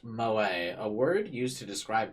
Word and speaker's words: moe: Pronounced moe, a word used to describe character traits that are cute, endearing.